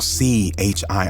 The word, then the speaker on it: C-Hii: The name WTTZ, pronounced Watts, paid homage to an LA neighborhood, while C H I I, pronounced C Hi, signified his affiliation with the Crips, a notorious street gang.